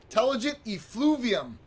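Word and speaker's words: telogen effluvium: this is called is telogen ethylene let me make sure i'm pronouncing that correct i always check but it's intelligent efluvium efluvium intelligent effluvium and this is this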